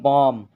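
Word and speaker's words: bomb: एम के बाद इसमें बॉम बॉम लिखा है लेकिन एम के बाद यहां पर बी है तो बी साइलेंट रहेगा इसी को पढ़ा जाएगा बम बम इसी तरह आप देख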